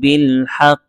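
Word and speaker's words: بالحق: তারপর হচ্ছে ইল্লাল্লাযীনা আমানু ওয়া আমিলুস সলিহাতি ওয়া তাওয়াসাউ বিল হক।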